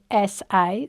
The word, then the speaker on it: LISA: Um great question and it's something that um I think so leases or licenses depending on how you want to pronounce it. It's Lisa.